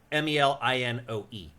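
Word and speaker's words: Melinoë: I'm going to guess her name is Melanoe. Melanoe? Noe. Like Melanoe? Yeah, usually in ancient Greek stuff, you pronounce each vowel separately. You're right, actually. And it's it is Melinoe.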